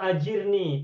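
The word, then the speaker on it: أَجِرْ: Oh, Yang saya waktu itu sudah pernah sampaikan, ini bacanya adalah ajir, bukan Allahumma ajar.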